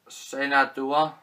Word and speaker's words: Shenandoah: This comes with The Man from Laramie, Two Roads Together, Destroy Rise Again, and Shenandoah, that's how you pronounce it.